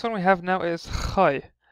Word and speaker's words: Khai: The next one we have now is Khai. It just pronounced as a kh, like a K. It's a kh.